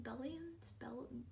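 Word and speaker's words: Bellion: but I really like John Belem belly billions the Lions John billion that's how you say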